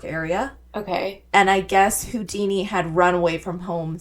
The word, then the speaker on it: Houdin: from the name Eric Weiss to then Harry Houdini.